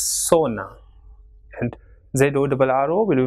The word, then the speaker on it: zona: Same way, ZONA will be pronounced as sona, and ZORRO will be